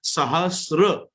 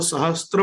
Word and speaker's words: सहस्र: मैं वापस कहना चाहूंगा वहां त्र शब्द नहीं है, वहां र शब्द है। सहस्र, सहस्र परिवत्सर, हम उसको हिंदी में जब बोलेंगे तब वो सहस्त्र बनेगा, लेकिन संस्कृत में जब उसका प्रोनाउंसिएशन होगा तो वो प्रोनाउंसिएशन उसका सहस्त्र होगा। तो मुझे सिर्फ इतना कहना